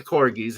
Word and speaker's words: Corgis: say for many years I pronounced them Corgis because a DJ friend I knew insisted that that's how they pronounce their name, and I thought, they're taking poetic and musical license, so why not? Okay, Corgis. Well, no, it's the Corgis after the dog.